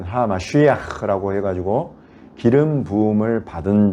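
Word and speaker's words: המשיח: 그리스도라는 말은 메시아라는 말이고, 히브리어로 굳이 발음하자면 하마쉬야흐라고 해가지고 기름 부음을 받은 자 이런 뜻이고, 그것은 곧 하나님이 세우시는 왕이다 이런 뜻이에요.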